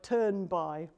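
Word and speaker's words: Thunberg: surnames anybody know how the Swedish pronunciation of her surname goes no her surname the second name well the nearest I've heard it pronounced is it sounds like turn by and the last thing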